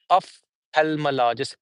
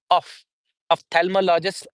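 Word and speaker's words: ophthalmologist: is very difficult but still we have of thealmologist it's not of it's of themologist of of themologist in British English but in American English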